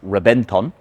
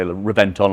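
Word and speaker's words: Reventón: Reventon is a Spanish word, so it should really be pronounced Reventon, a B instead of a V.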